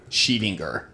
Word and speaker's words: Scheedinger: Sheet, like the sheet on your bed. Inger. Inger.